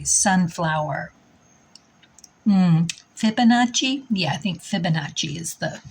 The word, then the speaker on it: Fibonacci: shell and the sunflower Fibonacci yeah I think Fibonacci is the correct pronunciation all right spirit and nature let's see